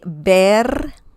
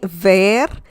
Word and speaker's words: ver: spanish lesson is about bear bear bear okay uh remember the v sound in spanish is similar to the b as in bell in english so you need to say bear bear and if you